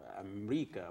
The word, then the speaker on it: Amreeka: You've seen the trailer of the new film, Arab American director Cherien and Amreeka, which is the pronunciation, the Arab pronunciation of America.